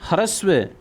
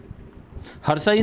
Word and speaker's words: ह्रस्व: ह्रस्व ई का, तो हम लोग पढ़ते हैं ह्रस्व, हर्षई नहीं, हर्षई नहीं, हर्ष ई नहीं।